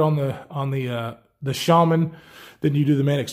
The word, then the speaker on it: Shaman: shaman shaman mix your bags calls this the chemin and so I watch a lot of his videos and of course that's why I keep calling it the salmon but it is pronounced shaman here it is against the tenacious you know